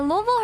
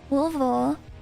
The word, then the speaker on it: Louisville: Louisville hardcore scene, and Louisville are the best in the world. Louisville. Say it like you're local, man.